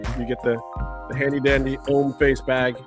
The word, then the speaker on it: Hommeface: You get the handy dandy Hommeface bag. The H is silent. That's a silent H there. Hommeface, because it's French for man face.